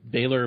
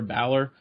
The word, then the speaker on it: Balor: uh Finn Baylor yeah Finn Baylor Balor um but I I always I always say his last name wrong it just doesn't S sound natural to me but yeah it's crazy